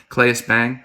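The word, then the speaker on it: Claes Bang: much of it click is it clays bang is that how you pronounce his name clays bang yes such a good look for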